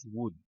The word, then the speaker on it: would: will wur arkadaşlar değil telaffuz would L yokmuş gibi düşüneceksiniz şu I would ı